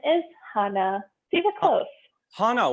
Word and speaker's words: Hana: the correct pronunciation is hana see the close hanno with sort of a soft a exactly exactly hannah like